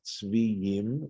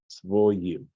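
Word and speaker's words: צְבֹיִים: This is a Tivkri situation where it looks like Tzviyim, right, the way it's spelled, but we're being told here in this Masoretic note that that's to be pronounced as Tzvoyim.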